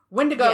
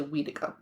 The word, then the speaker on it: Wendigo: Wendigo, Yes. which I did ask somebody recently, and that person from their particular Cree group, it's actually Weedigo.